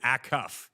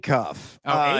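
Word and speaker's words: Acuff: If anyone is going to go on a Kemba Walker-like run, it would be Akuff. Is that Am I even pronouncing this guy's last name correct? No, it's Darius Auff.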